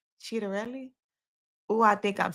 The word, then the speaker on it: Ciattarelli: The candidates right now are Mikey Sherrill, that's the Democratic candidate, and then the Republican candidate is Jack Ciattarelli. Ciattarelli.